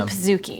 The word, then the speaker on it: pizookie: They have officially said it is pronounced pizookie as it is a portmanteau of pizza and cookie, which begs the question, why not pronounce it pizzookie if it's pizza and cookie? Right. No, it's a pizookie.